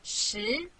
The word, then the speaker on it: 十: This is its syllable 十. Repeat after me 十.